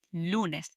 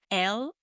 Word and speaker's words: lunes: In Spanish, it's lunes, spelled L-U-N-E-S, lunes.